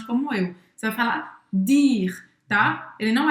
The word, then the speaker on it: dire: Em francês, dire. Dire. Dire. Então, mais uma vez, a gente não vai pronunciar o E no final. E presta atenção que em francês o D não é chiado, tá?